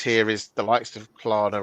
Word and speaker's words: Klarna: And I think the biggest difference here is the likes of Klarna or Kaylana, depending on how you pronounce it. Who pronounces it Kaylana? Oh, people do. Wrong. It's very wrong. Klarna.